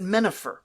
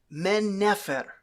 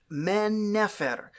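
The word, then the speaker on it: Mennefer: the native names but then he calls it menifer like it rhymes with Jennifer no it's men never it's man never it's pronounced very differently and this guy's not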